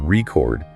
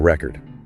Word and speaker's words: record: Okay, so think about the word record. If you stress the first syllable record, it's a noun, like a vinyl record, right? But if you stress the second syllable record, it becomes a verb, like recording a video. Same word, two completely different meanings, just based on where you put the stress.